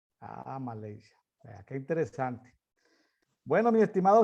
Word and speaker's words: Malaysia: ¿Cómo se pronuncia en inglés Malasia? Malaysia. Malaysia.